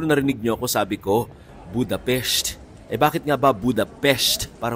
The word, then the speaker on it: Budapest: So ang tama palang bigkas ay Budapest.